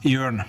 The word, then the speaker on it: Jørn: okay iron is pronounced yearn okay as in the english word turn for something easy to remember right and please don't